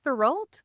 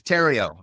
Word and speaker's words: Theriault: ask you is it theal is that correct you're from Canada you should know how to pronounce this it's French Canadian but it's Tero rhymes with stereo oh my gosh I